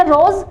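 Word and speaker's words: Ross: आगे आपको मिलेगा बार्कर सर रॉस या रोज बार कर ठीक है दोनों ही प्रोनाउंस है बुक में रॉस या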